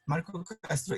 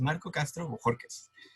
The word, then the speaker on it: Marco Castro: ask people to like no that's marco castro is not my name my name is marco castro so um those of